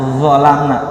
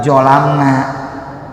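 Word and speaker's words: ظَلَمْنَا: Lidah kita nih tempel ke bagian atas, termasuk nempel sedikit ke gigi, vo, sambil tutup, vo, zalim, vo, zi, zu, Rabbana zolamna, bukan jolamna.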